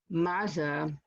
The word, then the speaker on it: matzah: a definite variation on matzah and if you look how the word pizza is pronounced with as if there was a t there you can understand how mazza became matzah there's also